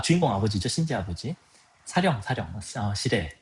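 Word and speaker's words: 司令: 사령, 시레. 일본어로 발음으로 시레라고 그러고, 사령이라고 그러죠.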